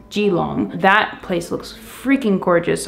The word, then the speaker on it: Keelung: a portside town called Geelong I believe it's spelt Keelung but I believe it's pronounced Geelong that place looks freakin